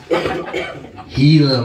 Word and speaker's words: Gila: like an action thing Gila monster but we're not going to pronounce the G I don't know what